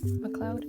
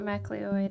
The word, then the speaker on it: MacLeod: hearing some kevin mccloud music macleod that's how you say his name i believe it's not mcleod it's a cloud um which his stuff